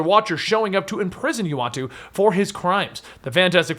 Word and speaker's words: Uatu: It's Utah, right? Well, it wasn't originally, Pronunciation of it's Uatu. Uatu, that's it.